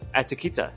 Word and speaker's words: Attekita: Um Kellina, finally, um your handle um Atakita, am I saying it correctly?